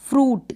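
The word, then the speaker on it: fruit: फ्रूट, क्या पढ़ रहे हैं, फ्रूट, जैसे इसमें दे रखा है।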